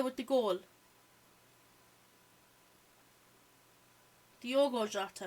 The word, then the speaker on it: Diogo Jota: Diego Jota with the goal. Diogo Jota, I think is how you say it. I said Diego.